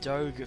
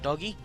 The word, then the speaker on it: Doge: Yeah, okay, so Riven and Graves going to be the pickup by Doge for LOL. I've been told that it is Doge, or Doge, not Doggy. We're getting reprimanded on that one.